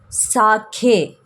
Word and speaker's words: sake: here guys but here the sake should be pronounced as sake which means a Japanese drink if anyone could drink